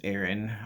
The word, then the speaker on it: Ehryn: do this introduction but my name is aaron i spell it e-h-r-y-n uh but legally on